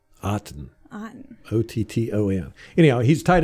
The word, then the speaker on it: Otton: So this Cade Otton, I guess that's how you say it. C-A-D-E. Cade. Like cotton with no C. Cade Otton.